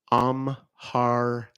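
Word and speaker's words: Amharic: never heard that before Omar is how it's pronounced a m h r i c I believe oh you're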